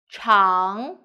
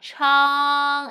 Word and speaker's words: 长: 长, 长, 吃, 刘友彤, 吃, on, open your mouth and go back on, good, 吃 on together, 长, and second tone, 长, 长, good, now let's